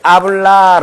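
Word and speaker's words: habla: 다같이 한번 따라해 보자 아블라 동사입니다 h 발음하지 말기로 했고 아블라이 뜻은 말하다는 뜻입니다 R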